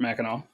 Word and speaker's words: Mackinac: that I got a summer job at Fort Mackinac like you said and I know for anybody